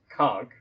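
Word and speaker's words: conch: animal this the snail which is normally pronounced conk um but often times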